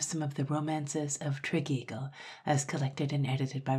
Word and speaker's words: Tregeagle: will also note that triagle is spelled and pronounced differently at different times I'm going to call it triagle throughout final note before